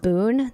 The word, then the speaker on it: Boone: Also, Benson, I think it's pronounced Boone, the TikTok singer.